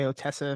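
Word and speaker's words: Ottessa: because it's not out yet um Eileen by otessa MH is how you say your name yeah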